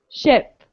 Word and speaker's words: ship: into a smile sheep but when i'm doing that ugly i sound my mouth is like e e ship ship okay so it's kind of